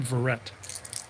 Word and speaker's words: Verrett: This guy's name, the way they pronounce his name is Logan Verrett.